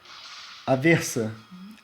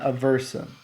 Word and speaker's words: Aversa: just so you know how you pronounce her name in Portuguese is as a visa it's not a versa this is pretty much